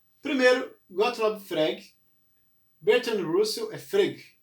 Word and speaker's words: Frege: Primeiro, Gottlob Frege, Bertrand Russell, Frege, acho que é assim que se pronuncia, Frege, Bertrand Russell e Ludwig Wittgenstein.